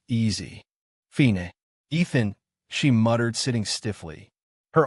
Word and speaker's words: Ethan: Two syllables easy. Fine. Ethan," she muttered, sitting stiffly.